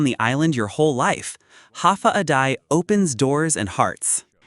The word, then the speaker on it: Hafa adai: Hafa adai pronounced ha day.